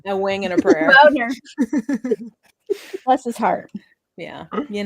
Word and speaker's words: Boehner: Boner.